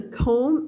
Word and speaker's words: comb: Who apart from the comb And The battery in R com คำ นี้ ออก เสียง silent B นะ คะ หวี ออก เสียง ไม่ ออก เสียง B เวลา เขียน ต้อง มี